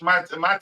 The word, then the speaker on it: Matty: um for have cash mat cash that's how you pronounce his first name forting 8 8.93 for R star and 8.69 for mati cash um okay goes